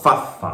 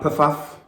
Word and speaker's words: Pfaff: And it is called fuff. It's not puff.